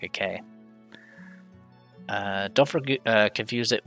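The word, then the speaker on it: ク: is tilted not straight this is ku or ku it's a consonant followed by a vowel and makes up a single syllable you pronounce this as q liking the word cool i think the the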